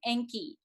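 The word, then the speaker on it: Encke: notably there is a comet named comet enki and it's spelled e-n-c-k-e comet anki has the shortest revolution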